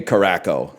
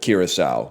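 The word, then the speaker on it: Curaçao: But then he did say Caraco instead of Curacao, which is really funny.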